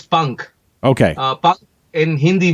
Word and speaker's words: PUNKH: group correct p n k give me the pronunciation it's Punk okay uh punk in Hindi would mean wings